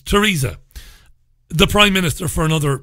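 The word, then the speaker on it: Theresa: brand very funny and therisa may or Teresa may you're not supposed to pronounce the th when you say Teresa may for whatever reasons bizarre really it's Teresa the prime minister for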